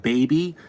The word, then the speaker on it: BBY: right now uh they're called baby uh it's spelled BBY y so baby spelled BBY and um they have